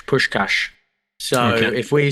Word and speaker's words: Puskás: man's name okay so I asked the lady it's Fen push cash so if we sound